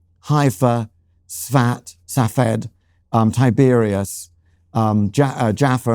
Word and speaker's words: Safed: he was brought up in Safed, pronounced Safed where he said that,